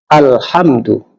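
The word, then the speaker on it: الْحَمْدُ: Di alif lam yang bertemu dengan huruf salah satu huruf qamariah, maka alif lamnya dibaca jelas. Yaitu contohnya alhamdulillahirabbil alamin. Alhamdu al itu alif lamnya kita baca.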